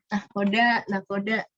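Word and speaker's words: nakhoda: Nakoda. Ini kayaknya kalian bakal gue gocek lagi sih. Tara. Wow. Ingat aja kalau nakoda ternyata pakainya ho.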